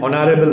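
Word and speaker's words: honorable: আছে এ honest man অ্যান অনারেবল ম্যান এখানে দেখো অনারেবল ও অনারেবল ম্যান এইচ টি কিন্তু আসছে না এইচ এর উচ্চারণ এখানে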